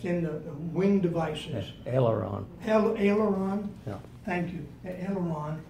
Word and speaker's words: aileron: felt his, and Bill, correct me if I'm pronouncing this wrong, his aileron lock. It's in the wing devices. Yes, aileron.